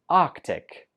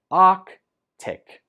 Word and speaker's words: Arctic: last one number 25 we pronounce this Arctic Arctic just two syllables Ark tick Arctic sadly the Arctic is